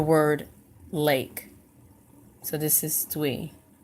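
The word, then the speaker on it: 兌: So this is Dwi. How to pronounce it, Dwi.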